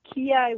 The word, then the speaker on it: Ki: It's the Japanese pronunciation of chi, like Tai Chi.